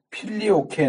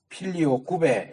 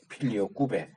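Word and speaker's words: Filioque: 아까 내가 잠깐 언급했던 필리오케 논쟁이라고 하는 거는 그 당시 25페이지 첫째줄에 나오죠 필리오케음 이게 필리 오케라 보통 발음을 하긴하는데 그거는 영어 발음이고 이게 라틴어 그든 라틴어는 필리오 꾸베 이렇게 발음해야 맞아요 필리오 꾸베 이게 하고 유가 붙으면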